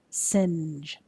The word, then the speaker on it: singe: next one singe singe singe hopefully you heard that n sound before the jet the next word fudge